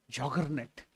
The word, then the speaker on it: Juggernaut: What did they pronounce it as? Joggernet. Now in English term it is there, joggernet. It rolled like a joggernet. Juggernaut means Jagannatha. The British couldn't pronounce it.